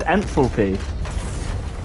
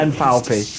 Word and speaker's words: enthalpy: uh enthalpy full p how do you say it uh I just said enthalpy ah what did I say before Oh yeah and falpy yeah because that's how you say it yeah I know it's not but it's funnier honestly that that's really funny